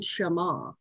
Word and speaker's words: Shema: I looked up the pronunciation, Shema.